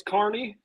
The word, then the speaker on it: Kearney: Sir, it is Kearney. If you pronounce it Kearney, they will actually hang you up by the trees and beat the shit out of you with metal rods.